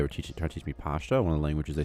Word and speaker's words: Pashto: But like Pashto is actually like Pakto, something like that. But in Kandahar, they pronounce that noise, like the noise, as like sh, which makes it very easy for English speakers because you say Pashto instead of Pakto.